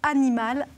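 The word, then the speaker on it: Anymal: Le week-end prochain, c'est la deuxième édition du festival que vous avez créé, le festival Animal, A-N-Y-M-A-L. On prononce comme ça ou Animal?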